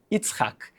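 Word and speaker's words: יצחק: Yud, Tzadik, Het, Kuf. Yitzhak, que vem da palavra Tzahak, a palavra que em raiz se chama sorrir.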